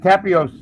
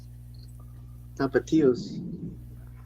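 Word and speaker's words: Tapatío: you got Tapios. You need to add that in. Another name. Tapatios. I'm sorry I butchered it.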